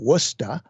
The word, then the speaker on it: Worcester: kind of uh between boston and worcester they pronounce it worcester and uh this uh icom 7851 was set